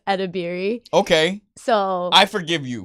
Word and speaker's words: Edebiri: Which is when you see someone's name and you assume that it's harder than it actually is because it's literally how it's spelled, which is Edebiri.